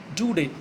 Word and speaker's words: Daudet: It is pronounced Daudet, Alphonse Daudet.